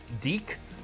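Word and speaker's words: Diq: It also suggested Deek, D-I-Q. So you know, I'm being polite and pronouncing it Deek, because you could make an argument that that wouldn't be how you pronounce it.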